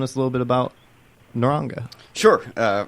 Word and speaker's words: Naranga: Scott, do you mind telling us a little bit about Naranga? Sure. First of all, it's pronounced Naranja. But we hear both.